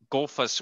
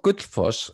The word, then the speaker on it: Gullfoss: next stop would be Golfus Waterfall. Did I pronounce that right? Was I close? Yes. Well, we'll talk about that later, about your pronunciation. Sure. Okay. But could you tell us about the waterfall? It's called Gullfoss, and when you park